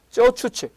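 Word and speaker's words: 走出去: 선진화를 단기에 달성하려는 레노버의 이거 중국 한자를 우리식으로 발음하면 주출거인데요. 중국 발음 발음은 쩌추치 전략의 일환으로 해석할 수 있습니다.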